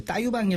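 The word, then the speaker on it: Taillevent: 갖던 것들 중에는 그 따 유방이 라는 레스토랑이 있어요 아유 바 나 유방 따 유방 4 브러쉬 그렇게 반응을 해야 되는데 철자를 보면 영어식으로 발음한 게는 너무 좀 낯설고 요 네 그럼 따 유방이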